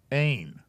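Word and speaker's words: אין: And this one is a Y-N, ain.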